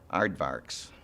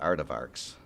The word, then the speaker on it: aardvark: I'm not finished yet aardvarks my 15 year old son pointed out to me that I usually pronounced at art of arcs and he constantly is correcting my he's non-dyslexic so